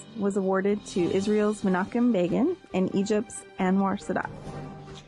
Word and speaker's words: Begin: In 1978, the Nobel Peace Prize was awarded to Israel's Menachem Begin and Egypt's Anwar Sadat. Can an Israeli man be named Bacon? Begin. Begin. Oh. Did I say it like Bacon?